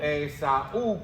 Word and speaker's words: Esaú: Entonces, Esaú, Esaú con un acento en la U, okay, vendió su primogenitura.